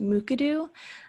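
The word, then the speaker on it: Mukurtu: Yes, and the name of the software is pronounced McAdoo, and it's possible I was saying it kind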